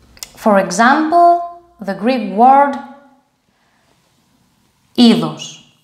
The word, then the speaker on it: είδος: This one is pronounced like e. For example, the Greek word είδος.